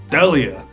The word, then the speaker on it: D'Elia: Chris D'Elia. That's how you pronounce Yeah, it?